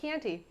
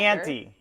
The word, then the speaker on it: Chianti: Because I did find out I don't like Chianti. Don't care for it. Oh my God, the way you said that. First of all, it sounded like candy. You got to say it wrong, like Hannibal Lecter. Chianti.